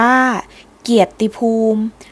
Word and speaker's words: เกียรติภูมิ: อ่าน เพิ่ม เติม ความ หมาย เกียรติภูมิ อ่าน ว่า เกียรติภูมิ หมาย ถึง เป็น ที่ ยก ย่อง ของ แผ่น